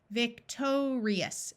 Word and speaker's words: victorious: Victorious, victorious. Did you notice that this I had a long E sound again?